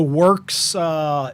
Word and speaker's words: WERCS: So Works is spelled WERCS, and Works is a worldwide organization which rates chemicals from healthy to toxic.